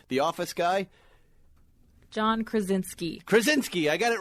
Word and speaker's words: Krasinski: How does he pronounce his name? The Office guy? John Krasinski.